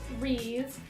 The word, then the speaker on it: wreath: So to make our really cute Ramadan and Eid wreaths, what you're gonna need. Are they wreaths or wreaths? Wreaths. Wreaths? I've been saying it wrong this whole time. It's wreath. Wreath? I say wreath, like R-E-E-F.